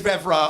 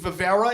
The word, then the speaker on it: Vevera: I want about them a lot of people pronounce my last name Vera it's not cuz they're dumb it's cuz my stupid Gypsy ancestors put an extra e in the name for some reason so